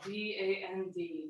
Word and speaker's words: Dand: That's spelled D-A-N-D, Dand.